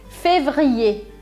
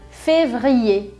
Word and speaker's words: février: O certo é dizer février, février.